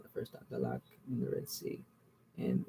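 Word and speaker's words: Dahlak: Map shows part of the northeastern coast of Africa from the island of Dalak, I said it wrong the first time, Dalak in the Red Sea, and extending south to the area of the Comoro Islands.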